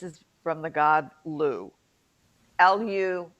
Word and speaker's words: Lugh: from the god lou l u g h lu remember it's gaelic and half the letters aren't pronounced anyway um now some people